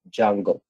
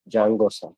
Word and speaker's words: Django: Django is also pronounced Django. Okay, Django. So here T is a silent, pronounced as Django, J-A-N-G-O, like this.